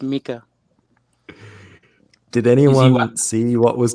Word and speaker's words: Micah: Yeah. Mika. It's pronounced Mika.